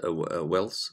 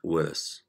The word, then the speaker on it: Willis: Before that, some people pronounce it Willis, Wells, circle of Wells, but I think native people, I think they pronounce it Willis.